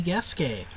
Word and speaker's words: Gasquet: All right, next up is Dorothy Gasquet. And that is how you pronounce her name, or at least roughly equivalent.